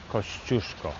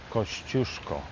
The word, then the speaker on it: Kościuszko: And we're going to go see the museum of Tadeusz Kościuszko. That's how you say it. Say it after me. Tadeusz Kościuszko.